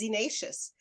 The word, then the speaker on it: xenacious: I had to look up how to pronounce it because it looks like zenacious, but it's zenacious.